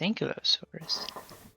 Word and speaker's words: Ankylosaurus: They're pronounced Ankylosaurus.